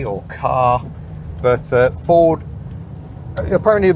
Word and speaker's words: Ka: of cat people say Ka or car but uh Ford apparently a bit confused themselves eventually said no it is cat as in cat without the T oh slightly odd choice